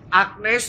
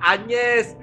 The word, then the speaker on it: Agnes: wajib Santa Angeles Martir Agnes Romo bukannya anyers yang benar bacanya adalah anyers jadi kalau kita menyanyikan